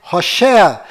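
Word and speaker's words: הושע: se mudou para josué mas a pronúncia correta de oséias é rocher e quando moisés mudou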